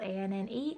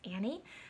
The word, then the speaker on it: Anne: and yes it's spelled a-n-n-e and no it is not pronounced Annie my mother has been